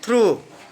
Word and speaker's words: through: And through means At the last you count U only. GH is silent.